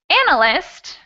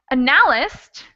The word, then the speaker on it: analyst: which one is wrong so analyst is the right pronunciation but if i said analyst some people might be able to say oh no that's not how you say the word or an yeah and a list is also an incorrect pronunciation so you guys can